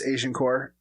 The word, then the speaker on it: Agincourt: I also want to do the Battle of Agincourt, which I just learned is the appropriate way of pronouncing the Battle of Agincourt, but it's Agincourt.